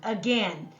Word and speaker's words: again: in again go ahead a gen so just the sound a is by itself open syllable in this word the letters a i stand for the short e sound again you could say again